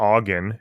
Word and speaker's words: Augen: I want to kind of touch on this again because the Augean or Augen, depending on how you want to pronounce it, that word is the German word for eye.